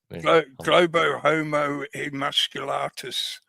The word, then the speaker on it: Globohomo Emasculatus: Globohomo Emasculatus.